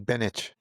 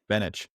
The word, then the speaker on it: Beneš: The Czechoslovak president in exile, do you know how to pronounce that? I think it's Beneš. Beneš.